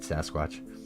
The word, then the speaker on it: Sasquatch: Their name rhymes with Quatch. I don't know. It's Sasquatch.